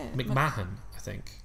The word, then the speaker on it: McMahon: McMahon, I think. I thought the H is silent.